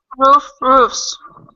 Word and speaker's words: roofs: Roofs. Okay. Yes, good job. However, sometimes you may hear roof pronounced as plural, as roofs, with a V sound.